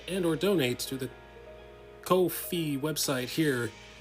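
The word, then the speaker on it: Ko-fi: for a long time i thought that kofi was spelled was pronounced coffee like half a cup of coffee actually not it's supposed to rhyme with no fee kofi rhyming with no fee as in all the fees go towards the streamer the more you know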